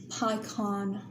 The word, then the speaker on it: pecan: foreign pecan pecan we actually pronounce it pycon I can't I can't